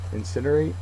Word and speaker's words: incinerate: and anonym is energetic incinerate is next uh it's a verb the second syllable is accented is to burn to